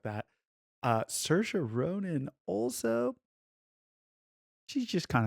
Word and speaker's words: Saoirse: Hence, it's spelled Saoirse, Yep. but it's pronounced Saoirse.